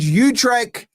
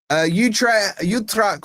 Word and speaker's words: Utrecht: Utrecht or Utrecht, I think is the proper pronunciation.